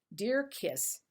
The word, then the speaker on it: Djer-Kiss: People have trouble with this, DJER-KISS. They try all sorts of different ways, but the company over and over again in each and every one of their ads says it's pronounced DEAR-KISS.